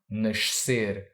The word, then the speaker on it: nascer: to be born, nascer, tricky word because it has an S at the end of a syllable followed by a C next to an E or I. Why is that tricky? Because an S at the end of a syllable sounds like sh, and a C next to an E or I sounds like s. And technically, you should say sh followed by s, which can be tricky for a non-Portuguese speaker,